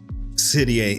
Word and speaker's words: Serie A: I haven't looked at Serie A.